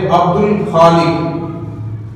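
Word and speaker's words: عبد الخالق: हन में से है कमरी में लाम का साउंड अदा होगा लाम की आवाज है लाम साइलेंट नहीं है उसके अंदर तो इसलिए हमने अब्दुल खालिक अब्दुल खालिक तो हमने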